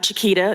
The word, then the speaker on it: Chiquita: My name is Chiquita. It's pronounced just like the banana.